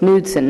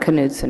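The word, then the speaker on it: Knudson: question um mayor nudson is the K in your name silent it's nudson not kudon right I would never want to mispronounce it may it is silent U thank you um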